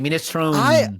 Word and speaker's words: minestrone: It's We pronounce it every single letter you see. So when you see the E at the end, we say yeah, A.